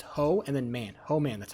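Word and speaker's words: Hohman: It's not Hoffman. It's Ho Man. H O H M A N. Ho man. It's a very distinctive hoe. It is ho man. That's how you pronounce it.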